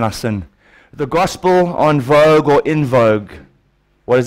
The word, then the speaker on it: vogue: church teaching and it's in vogue or at the correct pronunciation on vogue is a French word and that includes the